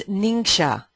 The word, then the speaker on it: NingXia: kids and adults alike so how do you pronounce it it's ninga ninga red and ninga is uh is found